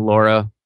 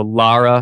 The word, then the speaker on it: Lara: I've been saying Laura forever. So, Lara, yeah, it I just I can't Lara.